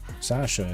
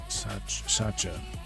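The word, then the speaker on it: Sascha: spelled Sasha S a C H seemed like it'd be more of a chas Satcha.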